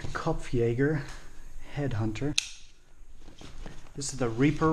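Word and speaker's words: Kopfjäger: not sure on pronunciation I'm just pronouncing that uh the German Way kof Yeager headhunter this is the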